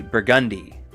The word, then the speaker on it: Burgundy: Burgundy from Louisiana, where it's pronounced with an emphasis on the second syllable. So it would be Burgundy.